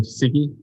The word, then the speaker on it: Siki: Hi, I'm Siki. It's pronounced Tiki with an S.